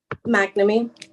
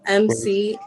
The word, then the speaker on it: McNamee: McNamee. Let me know if you want me to spell it. McNamee.